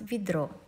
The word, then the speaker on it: ведро: For example, ведро, it's written ведро, but you pronounce ведро. See, the accent falls on O, so it's the next syllable, not the syllable with E. That's why we write V, but we pronounce V, ведро.